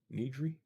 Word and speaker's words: Nigri: is it Jessica Nigri they pronounced that said her name Jessica Nigri need jury but yeah Chad Hardin